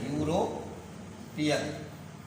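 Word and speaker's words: European: तो आप देख रहे हैं यहाँ यूरोपियन ई से प्रारंभ हुआ है, लेकिन इसका उच्चारण है यस है, यूरोपियन।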